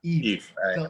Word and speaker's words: Yves: do this because of the way my name is spelled so they try to produce Eve achieve it's just Eve yeah Eve I knew that actually